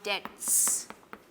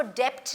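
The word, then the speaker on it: debt: कर्ज हमें माफ कर ये जो वर्ड है डेट अब आप कहेंगे इसमें बी भी है लेकिन मिस मैं बी प्रोनाउंस नहीं कर रही हूं बिकॉज़ बी इस इस वर्ड के अंदर साइलेंट होता है तो हम इसको डेप्थ नहीं बोलते हैं हम इसको डेट बोलते हैं अगर आप किसी को डेप्ट बोलते हुए सुने इट्स अ रंग pronunciation because B is silent तो आपने इन तीनों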